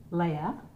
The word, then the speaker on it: Leah: My name is pronounced Leah, like Princess Leia.